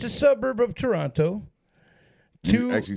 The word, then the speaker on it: Toronto: It's a suburb of Toronto. You actually said that wrong. What, Toronto? The T is kind of silent. It's more like Toronto.